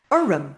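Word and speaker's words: orm: Um sounds like two syllables.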